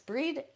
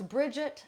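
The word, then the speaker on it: Brigid: she is so synonymous breed should pronounce Bridget sometimes breed other times she is so so synonymous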